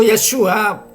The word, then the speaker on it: Yeshua: Lo pronuncio Yeshua en el hebreo, pero en el en el castellano, perdón, pues todos lo conocemos como Jesús.